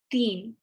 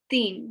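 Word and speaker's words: تین: three is theme so it's like i've written it out as dean like a teen like a teenager or something uh but it's pronounced it's not pronounced with the t sound it's pronounced with a a sound so i understand that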